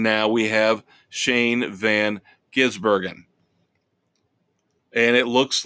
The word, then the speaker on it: Gisbergen: But Shane Van Gisbergen, very hard name to pronounce. Gisbergen. I keep wanting to call him Ginsburg, of course, after the late Supreme Court justice.